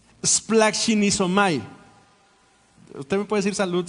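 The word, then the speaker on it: σπλαγχνίζομαι: Se pronuncia splachinizomai.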